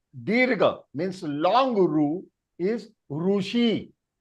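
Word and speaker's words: ऋषि: And Dirga means long Ru, is Rushi. It is not Rishi. It is Rushi.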